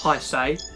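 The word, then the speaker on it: Haise: Well, I know it's pronounced high say, but I want to call him his A.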